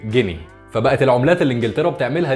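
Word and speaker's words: Guinea: بالظبط هو مربط الفرس، لان كلمه غينيا بالانجليزي بتتنطق جيني.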